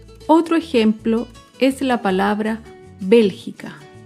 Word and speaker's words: Bélgica: Otro ejemplo es la palabra Bélgica. Bélgica se acentúa en la antepenúltima sílaba.